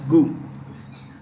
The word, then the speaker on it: Gou: Indian should not laugh, you can say gau also but normally pronounce goo.